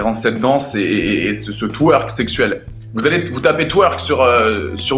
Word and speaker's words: twerk: Le twerk, prononcé twerk, en anglais twerking, est une danse sensuelle.